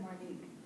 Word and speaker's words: Martinique: and like I said my name is Martinique it's a simple answer to me it's two syllables the light in the